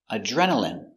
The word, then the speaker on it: adrenaline: turbines do very good next we have adrenaline adrenaline remember I here is pronounced in adrenaline adrenaline you get a rush